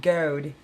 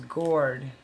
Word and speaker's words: Goard: It wasn't goad, it was gourd.